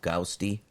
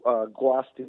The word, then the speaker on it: Guasti: Is it called Gausti and Dave? Am I saying it right? It is actually Guasti, Rancho Guasti in the city of Ontario.